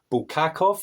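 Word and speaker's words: Bulgakov: Heart of a Dog by Miky Bulakov, I think is how you pronounce it.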